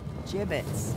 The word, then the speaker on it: gibbets: look Avery had some gibbets leftover jib it's what it's pronounced jib it's it's be